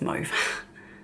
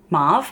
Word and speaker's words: mauve: you pronounce it but for us it's move Marv I think you say Marv if you're American I did actually live